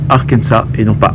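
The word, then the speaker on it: Arkansas: l'arkensa oui on prononce arkensa et non pas arkensas puisque cet état a été fondé par des Français et donc on ne prononce pas le à la fin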